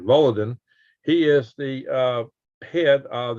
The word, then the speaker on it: Volodin: Now this is when somebody's trying to hit me the pronunciation. Volodin.